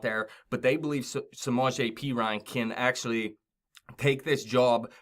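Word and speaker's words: Perine: to say his name I thought it was Perrine but P Ryan this guy does look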